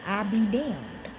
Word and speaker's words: Abaddon: in the Bible is Abaddon Spirit of Abaddon is the spirit of destruction his name is I broke it down I got I be damned okay but how to